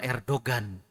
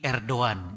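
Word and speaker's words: Erdoğan: Abi di Turki itu enggak ada Erdogan tapi erdoan jadi gnya enggak dibaca ya jadi perbedaan antara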